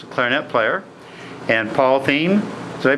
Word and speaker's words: Thieme: Evan row level our net player and Paul team so they pronounce it right Paul Paul is a trumpet